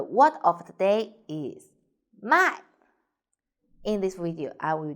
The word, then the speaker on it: 卖: The word of the day is 卖. In this video, I will teach you how to pronounce it, how to write it, and how to use it.